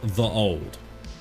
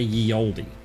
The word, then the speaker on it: ye olde: Shout out to ye olde Bob Ross. Ye olde Bob Ross. You know, we say ye olde, but actually the Y is TH.